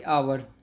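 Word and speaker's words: hour: जैसे कि आवर, आवर में एच तो साइलेंट है लेकिन साउंड किसका आ रहा है, आ का, तो इसलिए हम यहाँ पे एन का यूज़ कर रहे हैं।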